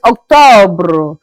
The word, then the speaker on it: octobre: October is Octobre. We have November. November is pronounced as Novembre.